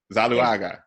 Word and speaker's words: Zuluaga: So the co-founders, Tracey how do I pronounce it? Zuluaga. Zuluaga.